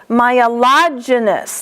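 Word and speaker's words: myelogenous: Myelogynous, lodge.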